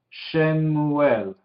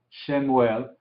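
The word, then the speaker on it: שְׁמוּאֵל: Porque se ve al lado Samuel, entonces nos da la pista, pero sería con la Shin, Shemuel. Entonces no es exactamente como español, ¿sí? Shemuel, pero se ve como es transliterada fácilmente a Samuel.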